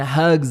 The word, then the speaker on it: hugs: Então, depois das lágrimas de alívio and hugs of joy. O que são hugs of joy? São abraços de alegria, né? Detalhe na pronúncia, né? Hugs, com som de Z no final, embora escreve com S.